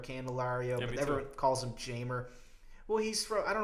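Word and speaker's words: Jeimer: but everyone calls him Jamer. Well, he's from, I don't know where he's from, the Dominican Republic or somewhere like that, but everyone pronounces it with the hard J.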